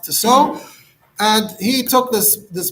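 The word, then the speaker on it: Tissot: the author's name was tiso spelled to sat pronounced to so and he took this this book um seems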